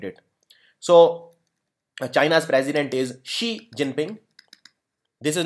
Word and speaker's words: Xi Jinping: so China's president is she Jinping this is not 11 Jinping some people think it is 11 it is she Xi Jinping okay it is pronounced as shei and China's prime minister